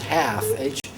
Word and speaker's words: half: Oh, so the second word is half. Half. Moon, half. H-A-L-F. I wish I could pronounce the L in half. Half. Half. Half. We can't say that in English.